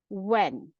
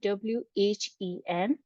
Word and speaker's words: when: word is when when when the spellings are w h e n h is silent here when the next word